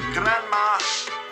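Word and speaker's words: Granma: just as you saw if you pronounce it correctly it sounds like grandma oh geen is the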